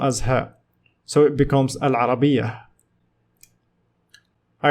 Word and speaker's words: العربية: - we have stab at it so we pronounced more buta as her so it becomes a lara BIA all right so let's have a comparison between